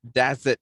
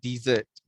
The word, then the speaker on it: desert: on your microphone everybody the pronunciation is desert not desert rip okay follow me that's it that's everybody that's it okay all right that's cool okay that's right so if you spell uh the word with double s like this only then you would pronounce it as dessert and this one is